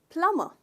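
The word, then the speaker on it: plumber: कोशिश करते हैं, पर इसमें बी साइलेंट है। तो इसका प्रोनाउंसिएशन है दोस्तों प्लम्बर, प्लम्बर। ट्राई कीजिए, प्लम्बर। तो इसमें स्ट्रेस आप करते हो पहले भाग पे, प्लम्बर, राइट।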